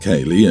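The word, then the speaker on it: Caeleig: My wife suggested Kayleigh, C-A-E-L-E-I-G, pronounced Kayleigh, and yes, she spelt it out.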